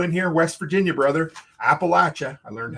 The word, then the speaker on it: Appalachia: Appalachia. I learned how to pronounce it properly.